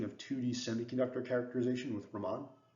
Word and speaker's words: Raman: 2D semiconductor characterization with Raman Ramen sorry I keep slipping back and forth between those two pronunciations and I think the second one is correct and I apologize if